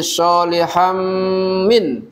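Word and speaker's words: صَالِحًا مِنْ: Solihan, solihan, han itu bertanwin fathah bertemu dengan huruf mim. Jadi soliham min ya. Soliham min dibacanya dengung, namanya idgham biguna apa malguna Bu?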